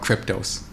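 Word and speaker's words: Qryptos: and then they have crypto only exchange called crypto s-- q ryp tos and because they're part of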